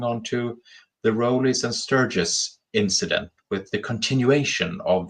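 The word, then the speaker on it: Sturgess: Is that how you pronounce it? Sturgis? Yeah, that's right.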